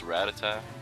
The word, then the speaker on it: Rattata: has a rattata too thinking that animates pronounced a rat attack i don't know it's pretty much always been rattata for me or maybe i use them interchangeably and i don't even